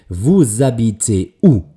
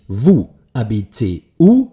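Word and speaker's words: vous habitez: das nächste Wort hineingbunden und deswegen eben WAB cu ein nicht ausgesprochenes h das ist das sogenannte stumme h das ist das sogenannte aschmühe also bitte nicht Wu ab c u also nicht drei getrennt voneinander gesprochene Wörter ich übertreibe ein bisschen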